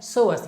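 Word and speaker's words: psoas: अब बात करते हैं हमारी हिप फ्लेक्शन मसल ग्रुप की दूसरी मसल जो कि है सोअस। यहाँ पर जो पी वर्ड है वो साइलेंट है, इसलिए इसका प्रोनाउंसिएशन सोअस है, तो आप इसके इस प्रोनाउंसिएशन से कंफ्यूज मत होइएगा।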